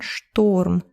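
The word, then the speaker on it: шторм: So a storm in Russian is буря, but actually we have the word Sturm, more like a German pronunciation, Sturm.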